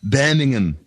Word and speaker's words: Birmingham: story for birmingham england oh oh that's pronounced banning him so the title is